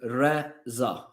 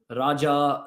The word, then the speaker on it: Reza: pronounce my name not Raja Rani RZA Risa Razer I've heard everything about my name but my name is pronounced as Rea all right let's go